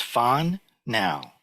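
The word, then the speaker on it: 번뇌: We're still focused on the first 2 characters in the second vow, and they're pronounced fan now. And I remember that as, are we having fun now?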